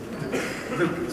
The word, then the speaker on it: Luke: Last speaker, Loon, please. I pronounce it right. Luke, sorry. Luke.